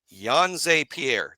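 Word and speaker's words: Jean-Pierre: Uh Yon Pierre, that is correct. That is the correct way.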